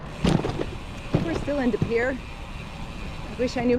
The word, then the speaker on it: De Pere: We're still in De Pere. Excuse me. Can you please pronounce the name of this town for me? De Pere. De Pere.